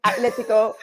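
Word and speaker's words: Atlético: And I really appreciate you pronouncing Atletico correctly, because it does drive me up a wall sometimes when I see people throwing the H in there.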